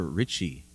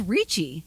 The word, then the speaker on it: Ricci: Christina Ricci. Oh, I thought it was Ricci.